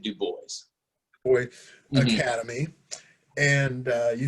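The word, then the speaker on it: Du Bois: do you say Uh, Typically be Dubois, but he pronounced it Dubois.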